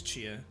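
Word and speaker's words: Tchia: it's yeah she is I think it's Chia that's how you say it t is silent um yeah that's that's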